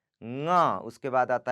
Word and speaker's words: ङ: ङ.